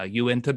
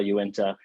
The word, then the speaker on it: Uinta: uh you can remember it by saying uh you into beer you into beer yeah are you into